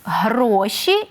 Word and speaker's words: гроші: багато грошей чудово але наголос на перший склад гроші і грошей так ми всі шукаємо